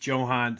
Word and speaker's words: Jhohan: And I know a lot of people are saying Jhohan, but I've looked it up and made sure he prefers it being pronounced Jhohan, so I'm going to call him Jhohan.